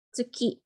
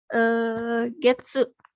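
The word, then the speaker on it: 月: Nah, itu bisa dibacanya tergantung ininya sih, tergantung bulannya bulan apa, bisa dibaca Getsu, bisa dibaca Gatsu.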